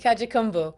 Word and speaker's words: Kajukenbo: Kajukenbo. Kajukenbo.